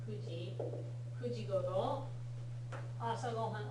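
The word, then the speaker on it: 九時: Okay, so first of all, the pronunciation for 9 o'clock is special. Kuji, yes. Kuji.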